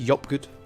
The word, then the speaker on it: JopGood: Pronounced YOPGOOD, but everyone reads it as JOPGOOD, so that's absolutely fine.